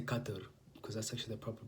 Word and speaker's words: Qatar: who've been to Qatar or should I say Qatar because that's actually a proper pronunciation by the way you know I know